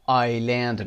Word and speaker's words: island: جزیره رو آیلند میخونیم. آی اسش اینجا خونده نمیشه، پس آیلند و آیسلند رو با هم اشتباه نگیرید.